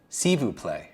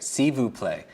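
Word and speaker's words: s'il vous plaît: you merci thank you how do you say please in French sivu play right sivu play for me that sounds like a word substitution for Sibu play would be a silver plate so just attach silver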